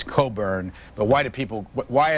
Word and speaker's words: Cockburn: to do this but she said mr. Cockburn and it's Coburn but why do people